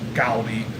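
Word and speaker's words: 갈비: I know it's pronounced gali. My family calls it carby, but Korean barbecue.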